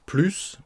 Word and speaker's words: plus: gentil qu'avant par exemple on ne prononce pas le S pourtant c'est une phrase affirmative ce n'est pas une négation hein c'est une phrase affirmative il est plus gentil qu'avant pourquoi parce que c'est suivi d'un mot commençant par une